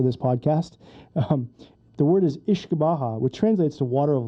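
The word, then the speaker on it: uisce beatha: you know for this podcast the word is ish baja which translates to water of life so whiskey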